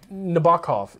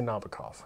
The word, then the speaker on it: Nabokov: it Vladimir Nabokov like we got called out for mispronouncing it Nabokov is the traditionalist traditionalist I'm American I say Nabokov we did a full